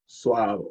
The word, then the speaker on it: Suavo: This is Suavo. English A sometimes A and then sometimes it's so it mixes it up. But this one is like apple. Apple is Suavo.